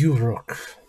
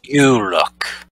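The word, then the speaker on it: Uroc: His name is Uruk. That is a hard name to pronounce. Uruk.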